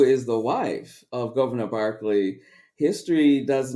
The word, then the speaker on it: Berkeley: I used to call him Governor Berkeley until someone corrected me. It's actually pronounced Barclay.